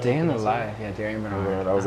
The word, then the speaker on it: Darien Bernard: Yeah, Darien Bernard.